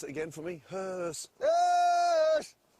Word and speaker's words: huush: Pronounce it again for me. Hearse. Yes! Hearse.